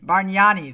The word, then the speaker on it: Bargnani: Bargnani, there we go. It's spelled B-A-R-G-N-A-N.